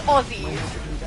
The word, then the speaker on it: Aussies: The S sounds like a Z.